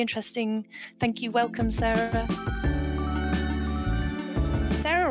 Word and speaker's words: Sarah: Sarah or Sara? Am I always saying it wrong? It's Sarah.